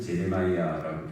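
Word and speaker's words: Jeremiah: 예레미야도 그 영어권에서는 제레마이야라고 부르는데 제레미야 제레마이야 하는 무슨 말이야 우리가 예레미야 예레미야 하면 그 사람들은 또 못 알아들어요.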